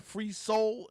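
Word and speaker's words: Fr3sol: That is an artist called Free Soul, and it's spelled F-R, the number 3, S-O-L. Free Soul.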